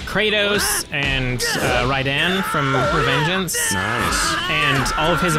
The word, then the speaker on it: Raiden: Well, I mean, you're not wrong, and you can't argue this because Mortal Kombat's American, and they say it's Raiden.